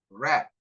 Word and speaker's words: wrap: W, W, silent. Right. Answer. Wrist. Wrap. Whole. Whole. W-nya silent ya.